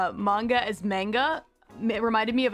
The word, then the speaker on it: manga: And I remember back then I kept pronouncing it manga when I would talk to her. And she'd kind of whip around and be like, it's manga. My brother told me that